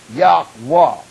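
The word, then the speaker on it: Yahweh: salvation y h w h proper way to pronounce it yahwa that's the only name going to get you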